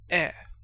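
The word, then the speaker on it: へ: Then you have e like the e of Canada.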